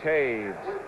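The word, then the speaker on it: Toews: for perhaps for Lauren Taves made the tackle number 51. that's spelled t-o-e-w-s spelled that way make it multiple choice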